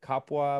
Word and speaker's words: kapwa: to end with, you talk about the Tagalog idea of kapwa. Am I pronouncing that correctly?